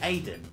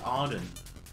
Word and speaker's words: Aiden: Is it Aiden? Yeah, Aiden. Yeah. Sorry, I said Arden.